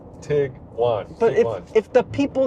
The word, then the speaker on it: Tiguan: It's tiger and iguana. Tig-wan.